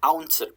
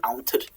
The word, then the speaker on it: awntyr: It's just kind of smushed into two syllables, awntyr.